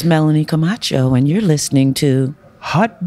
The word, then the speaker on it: Comarcho: Melanie-Comarcho. Yes, that's correct. Not Camacho. I'm sure. What's the worst? Somebody's like butchered your name. Comarcho.